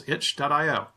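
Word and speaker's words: itch.io: 2018 as well as hitch dot IO and you can follow on Twitter to see all the how the process is going wait right did you say it like like something's itchy yeah like some cinchy there's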